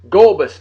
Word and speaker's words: Gulbis: Natalie sounds like it's spelled Gulbis, Gulbis.